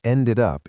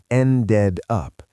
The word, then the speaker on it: ended up: The rhythm of ended up is another place where beginners often stumble because they pronounce the D too strongly. They say ended up. But listen to how Lily said it. The second D pushes right into the U. It sounds like ended up. Ended up.